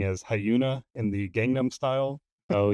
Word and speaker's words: HyunA: It is Kim Hyun Ah, which I think was probably the majority of what people were telling us in the comments.